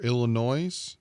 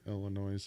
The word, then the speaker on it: Illinois: You want to meet in Missouri or Illinois?